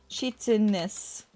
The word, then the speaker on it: chitinous: Chitinous. Pronunciation. How do I say this word? Oh. Chitinous.